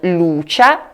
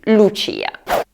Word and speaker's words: Lucia: Vi faccio anche notare che il nome femminile si pronuncia Lucia perché la I è tonica, pertanto non Lucia, bensì Lucia.